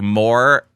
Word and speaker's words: Morimvr: We got Morimvr. They gave me the pronunciation of it as well, so it's like more-EHH. To me as a Canadian, like I go A for that.